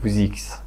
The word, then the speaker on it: WZX: you can say it like Wuzix.